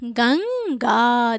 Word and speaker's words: गंगा: तो ये क्या उच्चारित होगा, गंगा। देखिए गंग अंग निकल रहा है ना, तो इसके उच्चारण में नाक पे बल जा रहा है यहाँ पे ना, तो ये क्या है, अनुस्वार है।